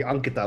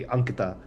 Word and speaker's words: Ankita: It just would be Ankita. Uh like almost like almost like saying ank like you know the word ank.